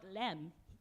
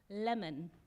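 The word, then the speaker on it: Lemn: learned today that actually in ethiopia his name is not lem it's pronounced lemon uh-huh learn something right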